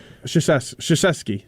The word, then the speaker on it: Krzyzewski: Krzyzewski.